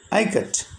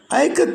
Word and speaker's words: Ikat: to pronounce the word i cut the word is pronounced as i and k a as in kamala and she told them i cut these and indonesian term